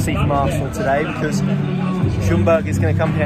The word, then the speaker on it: Ljungberg: big vote of confidence in him from Freddie Ljungberg, as I've been told his name is pronounced in the Facebook Live that I've just done to greet the team news.